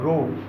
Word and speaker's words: rho: ये जो सिंबल है इसको ऐसे ड्रॉ करना है, दिस इज कॉल्ड रो। यहाँ से शुरू किया ऐसा, ठीक है। This is रो, what, रो, pronounce करना है रो, RHO, रो, रो।